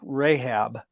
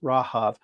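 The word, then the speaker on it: רהב: in hebrew it's rahav think of like rahab but it's actually pronounced rahav so rahav actually means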